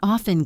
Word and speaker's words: often: Let that T melt away, and it will sound so much more fluent.